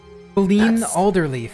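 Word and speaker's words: Qelline Alderleaf: Ben Alderleaf. That's code for Can you spell that, please?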